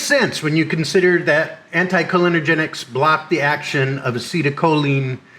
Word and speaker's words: anticholinergic: How about anticholinergics? Warning, this is from the future here. I'm about to mispronounce the word anticholinergic as anticholinergenic 1,000 times.